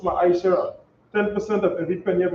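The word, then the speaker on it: מעשר: Means tenth in Hebrew, and it's pronounced Ma'aishara.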